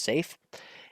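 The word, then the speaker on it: saffee: ultimately honey's out and safe pronounced or spelled safy but pronounce safe is it safe is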